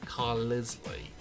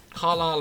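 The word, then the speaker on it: Carlisle: And then as for Carlilele, I always used to pronounce it Carisley cuz I generally had no idea how to pronounce it. But Caral again, I think I'll stick on Marginal.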